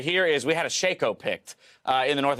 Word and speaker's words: Shaco: glad you say Shaco I think Shaco is the right way to say it yeah I was talking